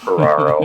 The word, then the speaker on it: Piraro: and it's just because it rhymes with my last name feraro and it and it